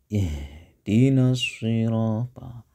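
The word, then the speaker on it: اهدنا: Ihdinasirata. Lanjut aja. Ihdinasiratal ya. Kemudian h-nya harus jelas itu. Jangan ih. Kadang-kadang ada yang bacanya pakai ha.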